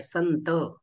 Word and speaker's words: संत: करतो संत शब्द आहे संत संत शब्दांमध्ये मात्र आपण अनुस्वाराचे उच्चारण न सारखं करतो न संत सगळे मला